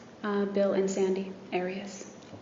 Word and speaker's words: Arias: Have you always pronounced it Arias? I've heard it pronounced about seven different ways. Um, I say Aras as does the rest of my family.